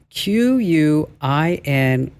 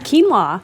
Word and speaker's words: quinoa: how do you pronounce q-u-i-n-o-a how do you pronounce that quinoa okay it's not quinoa no it is not